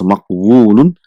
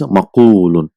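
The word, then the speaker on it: مقول: So it is difficult to pronounce maqwulun. So instead of that, one waw is dropped and a dhamma is given to fa kalima, is maqulun.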